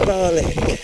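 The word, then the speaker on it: Barnoldswick: um where you go on it for a very very brief stretch at Barnolswick which locals pronounce garlic which is in Lancasher.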